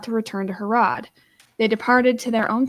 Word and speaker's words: Herod: I will say, believe from what I've heard the most, it's pronounced Herod.